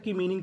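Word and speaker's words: come: हमें उससे पहले तक की मीनिंग का उच्चारण करना है। जैसे सी ओ एम ई कम। यहां पे इ है। हमें इ का नहीं पढ़ना उच्चारण।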